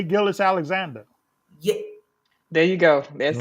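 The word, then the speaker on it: Gilgeous-Alexander: uh Shay is it Gil I can never pronounce his last name right Gil say Gillis Alexander yeah there you go that's it he has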